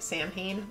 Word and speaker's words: Samhain: Well, Celtic people believe that during their festival of Samhain, which by the way looks like it should be pronounced Samhain, but it's not, marked the transition to the new year.